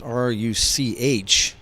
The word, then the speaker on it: Ruch: Could be Rutch or it could be Ruck. It's Ruch.